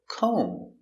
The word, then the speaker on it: comb: Example, comb. No comb. The B is silent. Comb.